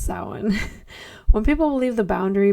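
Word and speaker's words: Samhain: It looks like Sam Hayne, but it's pronounced sin.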